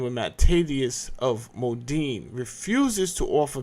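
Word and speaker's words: Mattathias: Now, I've always said this name wrong. I was calling this guy Matthias, but this is not Matthias. Matthias is in the Bible, but this is Matthatius.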